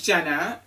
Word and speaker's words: Djena: Anyway, hi, my name is Djena, and that's spelled with a DJ because that's just how we flow around here, okay?